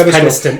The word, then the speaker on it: Penistone: I don't know whether it's pronounced that way. No, it's Penistone. It's Penistone. People still call it Penistone.